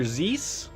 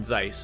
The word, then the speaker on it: Zeiss: am i saying it right is it zeiss or zees so longer we'll have something oh god uh where did joshua go at this point in time first one zeiss okay yeah look at this a scientist who's